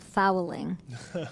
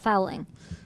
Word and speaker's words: Fowling: But tell me about fowling. Yeah, it's actually pronounced Fowling, like bowling with an F.